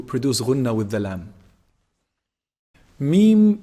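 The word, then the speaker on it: ميم: Meem is pronounced from the lips. When you bring both lips together, when you combine both lips together, when they close up, this is meem.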